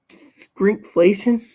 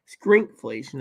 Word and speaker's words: shrinkflation: Shrinkflation. Oh, yeah. Shrinkflation. It's called shrinkflation, not skrinkflation. It's called shrinkflation.